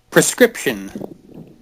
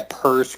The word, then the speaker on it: prescription: prescription. You did say it right. I say it a lot. A lot of people say prescription. Yeah, percription.